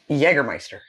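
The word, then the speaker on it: Jägermeister: the way really that's cool alcohol this is pronounced jgermeister that sounds nasty clearly I don't drink no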